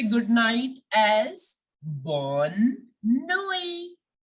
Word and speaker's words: bonne nuit: We will say good night as bonne nuit. Bonne nuit. The T in the end is silent.